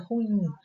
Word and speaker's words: ruim: Outra palavra é a palavra ruim, porque nós pronunciamos muitas vezes ruim. Isso é ruim. Então, essa palavra, a pronúncia correta dela é ruim. Ruim. Ruim, a sílaba tônica é a última.